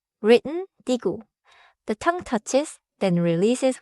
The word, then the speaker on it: 디귿: First sound, digu. Written digu.